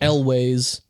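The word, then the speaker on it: Elwes: and Carri Elway's uh crashes how do you pronounce it like that what do what elways what is it Elis it's elways so Carrie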